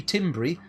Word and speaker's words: timbre: I believe it's pronounced timbre. It could be timbri, but I'm not keen on that pronunciation.